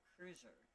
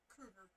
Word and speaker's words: Kruger: Kruger, like Freddy Krueger, yeah.